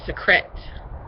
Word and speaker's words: Secret: it it's called Secret spelled like secrets but I think they pronounce it secrete kind of like Secrets the the little things